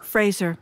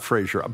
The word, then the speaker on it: Fraser: Fraser, not Frasier.